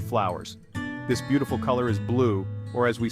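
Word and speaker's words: bleu: this beautiful color is blue or as we say in French BL pronounced blue notice how the e at the end is silent let's brighten things up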